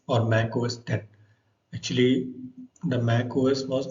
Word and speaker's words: Mac OS X: for Macintosh computers actually this x is pronounced as 10 because it was the 10th major date of the Apple's